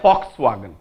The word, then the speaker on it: Volkswagen: लिखती भी पढ़ती कौन फ कौन हम ताले फॉक्सवैगन now this is known as accent this is